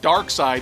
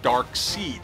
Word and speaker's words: Darkseid: now you notice I'm saying Dark Side even though it says dark seed Jack Kirby himself says it's dark side folks so I'm saying it right dark side is a